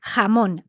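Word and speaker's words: jamón: place from andalia up then it would be hamon a that sound so Annabel from Madrid she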